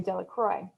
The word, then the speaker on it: Delacroix: The villagers pronounced this name Delacroix, eventually made a great